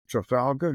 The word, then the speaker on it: Trafalgar: ceremonial avenue leading from London's Parliament Square to Trafalgar. Is that how you pronounce it?